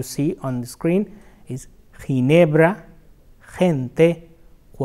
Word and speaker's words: Ginebra: So, if you come across or you wonder that how to pronounce that word, like few examples are ¿Cómo se pronuncia G-I-N-E-B-R-A en español?